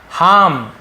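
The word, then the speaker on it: harm: हार्म, ये भी हार्म, ठीक है, हार्म ऐसे हार्म, नुकसान पहुंचाना, ठीक है, हार्मफुल, नुकसानदायक, तो वही है, आर थोड़ा सा साइलेंट होता है।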